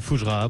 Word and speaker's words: Fougerat: Mettez-vous d'accord sur Sud Radio avec nos débatteurs, bien sûr, ce matin, ce lundi 8 mai, avec nous Frédéric Fougera, président de Tenkan Paris. Voilà, pour la prononciation exacte.